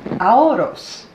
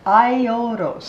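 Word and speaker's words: Aiolos: tell you uh AOS this is AOS I'm wrong AOS it's hard to say it I haven't even said it right yet it's iOS AOS iOS okay so I ow you st SE fans and iOS apology because this is IOS he is the older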